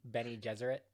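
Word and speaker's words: Bene Gesserit: how you say it yeah say it again benny deseret okay i'm gonna say ben not what i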